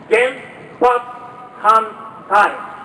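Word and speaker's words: 原発反対: And it's just 4 syllables. It goes like this. Gen, Pat, Han, Tai.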